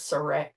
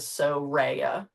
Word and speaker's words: Soraya: Because like I said, everyone normally says Soraya, but it actually is Soraya, is how they told me to pronounce it.